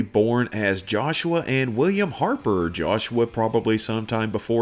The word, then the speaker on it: Harpe: to talk about pronunciation it may have been pronounced harp or harpay or arp but i'm saying heart also we know some